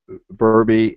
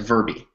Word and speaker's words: Verbi: just shortened it to Verbi. right, So right, right. Which is almost rhymes with my name, but we won't talk about that, okay?